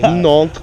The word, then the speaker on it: Nantes: They I picked one of the shortest almost like a Nantes variety. No. Nantes, yeah, as the British say, Nantes.